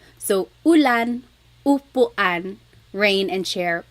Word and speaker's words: ulan: So ulan, upuan, rain and chair, U. Not like under or umbrella. The letter U in Tagalog has an U sound.